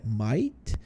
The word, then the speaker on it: might: dessa resposta tá então a pronúncia dele é Might mas na frase a gente dá de novo uma comida aí nesse T Então vamos lá I Might